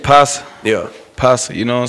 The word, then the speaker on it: Posa: Posa, you know what I'm saying? It looked like it's spelled like Posa.